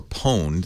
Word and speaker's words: pwned: kiddies call it they they've owned or pwned they spell it with a p pwn n pwned your computer and once